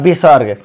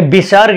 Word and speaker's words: विसर्ग: कथी है आपका, ये विसर्ग है। विसर्ग का उच्चारण ह से होता है।